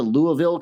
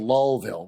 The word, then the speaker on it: Louisville: not like going to Louisville Kentucky with like oh it's not called that it's called lville well then spell it